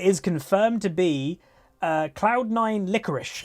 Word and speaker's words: Licorice: confirmed to be cloud9 licorice i being told that's how you pronounce the name I would pronounce it I liquor liquor s or something but yeah licorice apparently